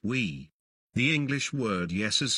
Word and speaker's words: oui: the similarity with the french word for yes is oui pronounced we the english word yes